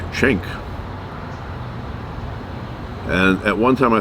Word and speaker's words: Cenk: It's not that hard of a name, but I see uh a C and they say J. I don't know where they get the J from. Why don't you spell it with a J then if it's jank or chank?